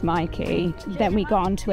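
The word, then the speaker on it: Myki: be tapping your Mikey card and it is pronounced Mikey then we gone on to another tram 109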